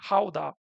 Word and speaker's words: Gouda: So in France, we were talking about Gouda, which in Dutch is actually pronounced more like Gouda, as far as I understood.